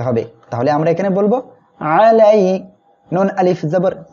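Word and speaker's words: عَلَيْنَا: তাহলে আমরা এখানে বলবো আলাইনা। অনেকে কিন্তু এখানে উচ্চারণ করেন এমন আলাইনা, এটা কিন্তু ভুল হবে। আমরা আইনটা গলাটা চেপে উচ্চারণ করব আলাইনা।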